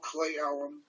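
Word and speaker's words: Cle Elum: There's a little town called Clay Elum that's spelled CLEULM.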